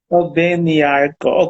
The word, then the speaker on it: Obengnyarko: Obengnyarko. Am I right in pronouncing the whole name? yeah, that's all. Okay. Nyako. Obengnyarko.